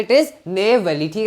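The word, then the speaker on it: Neyveli: mine कौन सी आप जानते हो इट इज नेवली ठीक है स्पेलिंग देख लो एन ई वाई वी ए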